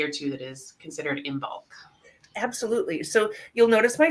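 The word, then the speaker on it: Imbolc: it is the season or the festivity of imul right now um and St bridgid so and that's how you pronounce it if you're wondering so um but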